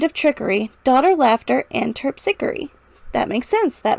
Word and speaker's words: Terpsichore: Terpsichore. Terpsichore. Terpsichore. Terpsichore. Okay. Let's try that line again, saying terpsichore. Hear me say devoid of trickery, daughter, laughter, and terpsichore.